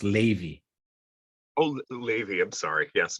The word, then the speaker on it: Levy: Good to see you, Levi.